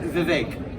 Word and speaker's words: Vivek: I appreciate best efforts but Vivek like cake is how you say it okay and most people